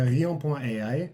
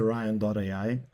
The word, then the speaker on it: Rion.ai: Ouais, non, c'est Rion.ai. En anglais, c'est Ryan.ai.